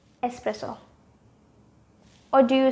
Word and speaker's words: espresso: whenever you go to a coffee shop it's espresso or do you say espresso with an eggs huh espresso or espresso believe me just remove that eggs it does not belong there espresso it's espresso i want a cup of espresso not espresso